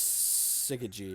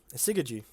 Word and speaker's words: Syzygy: Do I want this Syzygy?